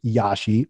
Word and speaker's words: Yashi: this domain for years yashi y-a-s-h-i sort of phonetical two syllables there's a lot of